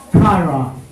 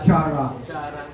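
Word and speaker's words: χαρά: Sa Greek daw ang joy ay tinatawag na kara. Hindi siya chara. Kara. Ano, pronounced as kara.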